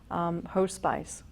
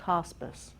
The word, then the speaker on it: hospice: back to the organization that helped my family host spice and so I wanted to volunteer with her spice and so when I arrived at this great organization this kind burly nurse said hey it's pronounced Hospice and I was like ah good tip good